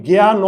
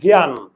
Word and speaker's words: জ্ঞান: এর উচ্চারণ হয় না আমরা কি জ্ঞান ন বলি জ্ঞান ন আমরা বলি কি জ্ঞান এখানে অ এর উচ্চারণ হয় না যদি কোন সিঙ্গেল বর্ণে